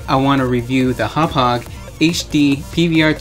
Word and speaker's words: Hauppauge: is the best that hop hog has to offer and also looked at that that's actually how you pronounce the name hop hog i always thought it was hoppage anyways so at this